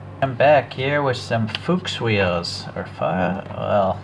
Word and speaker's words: Fuchs: fuchs wheels or well i don't want to pronounce it the other way so i'm going to pronounce it folks uh that would be another way but uh there's another way you could probably see it but probably be considered a swear okay well anyways i